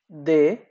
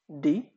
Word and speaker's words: D: সে, তারপর হলো দে, দে। তো ফ্রেঞ্চে আপনাদের এই যে ডি, এটাকে আপনারা বলতে পারেন যে অনেকটা আহ, দয়ের মতো উচ্চারণ করা হয়ে থাকে, সো এটা হলো দে, নট ডে, এটা দে।